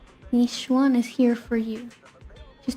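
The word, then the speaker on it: Yixuan: Well, someone's calling herself Yishun. I already forgot how to pronounce that name. Yishuan is here for you.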